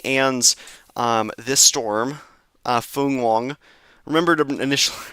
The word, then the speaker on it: Fung-wong: um this storm uh Fun Wong. Remember to initi initially mispronouncing it as Fong Wong, but I think it's Fun Wong or Fun Wong.